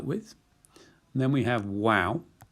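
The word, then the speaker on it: Waw: And then we have Wow. It's frequently pronounced as a V, but for the purposes of this course, it's going to be like a W.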